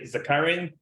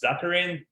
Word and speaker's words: Zakharin: Is that Zakharin? Zakharin? I'm not butchering, right? Original version would be Zakharin, but in this country, people tend to pronounce Zakharin. Zakharin. So that's acceptable by now.